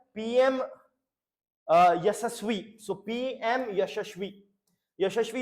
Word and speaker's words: YASASVI: YASASVI you can say, or here the pronunciation is YASASVI. It is sort of a blessing that is being given.